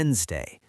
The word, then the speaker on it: Wednesday: Then, w- Wednesday. The first D became silent.